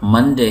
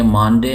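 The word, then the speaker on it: Monday: लेकिन अगर हम किसी को बोलते हुए सुनेंगे तो फिर हमें पता चलेगा कि यहाँ पर मंडे है, मानडे नहीं है।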